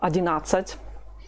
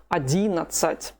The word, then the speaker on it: одиннадцать: Pay attention to the stress. It's not 11, neither 11. No, Russian people are not going to understand it. The correct pronunciation is 11.